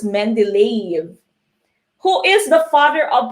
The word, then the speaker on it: Mendeleev: Okay, but it's pronounced as Mendeleev.